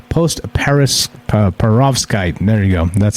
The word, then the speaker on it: post-perovskite: When it cools, bridgmanite forms into another material, a mineral called post-perovskite.